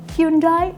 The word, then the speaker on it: Hyundai: love to ask you about how do you pronounce um hyundai or hyundai or hy precise Korean hyundai.